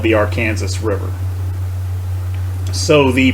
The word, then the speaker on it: Arkansas: distinction between so here's the state this is pronounced Arkansas and what I have said before is the